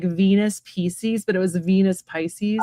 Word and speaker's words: Pisces: Well, in Latin, it is pronounced Pisces.